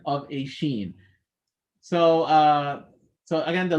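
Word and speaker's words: ش: and any of the any movements of the lips that happen while pronouncing sheen they're incidental they just happen because you are raising your tongue and letting air out they should not be done on purpose if you are making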